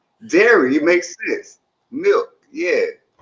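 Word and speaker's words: Derry: Someone Frank said dairy. Milk like mother's milk. Dair. Maybe I'm saying it wrong. D E R R Y. Dairy like Terry.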